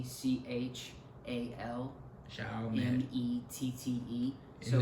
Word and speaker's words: Chalmette: It's pronounced Chalmette. Chalmette. Yeah, but it's not like Shell, like Shell. Gas station Shell. Shell. It's Shell, like with a C, CHAL. Chalmette.